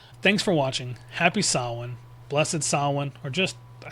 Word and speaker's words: Samhain: And I'm begging you, stop saying Sam Hayne. There's an Irish guy out there that's going to club you in the head if you keep saying it. Thanks for watching. Happy Sawin, blessed sin, or just